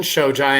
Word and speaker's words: Shojai: right i i was like oh it's jasmine shojai and i'm like i know there is no way that's how you pronounce her name but i was right awesome